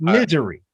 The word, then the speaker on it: Missouri: And she pronounces it misery.